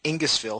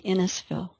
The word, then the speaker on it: Innisfil: She's a hypnotherapist in Innisfil. Have I pronounced that correctly? No, it's actually Innisfil.